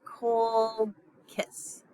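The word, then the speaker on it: Colchis: between um eiss and Co kiss just think of when you're pronouncing these uh words think of kiss smooch eiss and Cole kiss all right so here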